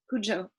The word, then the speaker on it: Cujo: sleep yes I like it yes okay I'm I love Cujo Cujo how do you say that Oh Cujo beautiful and charming and Charlie Carrie Carrie sublime